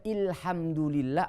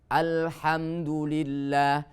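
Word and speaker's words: الحمد لله: Tidak boleh ilhamdulillah atau ulhamdulillah.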